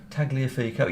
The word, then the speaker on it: Tagliafico: Tagliafico, yeah.